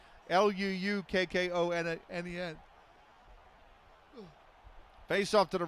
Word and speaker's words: Luukkonen: It's actually spelled with 2 U's as well. It's Luukkonen.